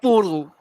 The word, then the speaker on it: Porro: Porro.